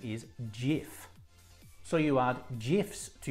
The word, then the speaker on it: GIF: about a year ago didn't know how to pronounce gif I was saying gif I had no idea the actual pronunciation is gf so you add gifs to your Instagram stories